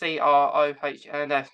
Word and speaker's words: Crohn's: Yeah, like, it's the only other day I'm saying it's Crohns, not Hrons.